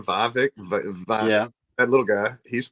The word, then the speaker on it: Vivek: Vivek?